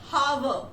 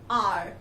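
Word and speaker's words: hour: Because its pronunciation is not have. No, that's wrong. Its pronunciation is are, okay?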